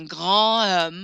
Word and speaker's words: grand homme: I'm going to pronounce that D kind of like a little T.